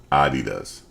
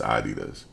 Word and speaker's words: Adidas: you say it yeah it's um Adidas that's how you really say it it's Adidas I can't wear no